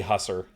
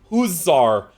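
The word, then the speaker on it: hussar: And also, how do you pronounce that word? Because I know it's not literally hasser, but uh does anyone know has anyone ever said this? Huzzar.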